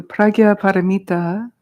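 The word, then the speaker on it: Prajñāpāramitā: recited in Buddhism so the pragya paramita which is how you pronounce that word that's her name but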